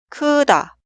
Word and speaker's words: 크다: La primera sílaba suena 크, 크, 크. Y la sílaba posterior suena 다, 다, 다. Leemos la palabra 크다, 크다, 크다.